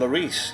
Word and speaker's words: Lloris: So in goal, I'd have Loris and Lloris, yeah, as opposed to Doris, who he rhymes with, yeah.